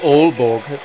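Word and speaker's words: Aalborg: oh Denmark together you mispronounced double A what do you say all Borg through me yeah unfortunately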